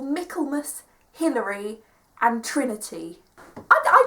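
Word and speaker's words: Michaelmas: the Autumn spring and summer terms they're called melus Hillary and Trinity I I didn't know how to pronounce melus until like two weeks before I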